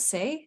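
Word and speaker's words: C'est: Their name is Bonnie from I don't speak French, so help me, Cheyenne, but it's the C''EST. Is that Say? Is that how you pronounce that? Yeah.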